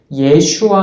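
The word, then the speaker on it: 예슈아: 여호와는 구원이 시 답 였죠 그 이름의 원래 발음이 예 슈아 하였고 더 원래 바람에 여호수아 였습니다 오늘 말씀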